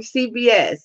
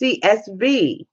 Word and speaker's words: CSV: that you no okay see I knew I was saying it wrong CBS it's CSV okay I got it now I bet you was on the other side going no it's CSV stupid it's CSV I know